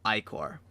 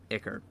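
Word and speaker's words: ichor: another item called volatile eye core or occur depending on how you want to pronounce it for the face set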